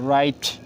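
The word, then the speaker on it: write: বাট এই রুলসটা হচ্ছে ডব্লিউ এর পরে আর হলে আর স্থিত হবে কিন্তু ডব্লিউ কি থাকবে সাইলেন্ট থাকবে থাকবে তারপর হচ্ছে রং তারপর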